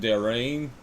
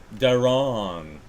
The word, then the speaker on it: Daron: Je pense que c'est Dareen. Mais non, il dit ici Daron.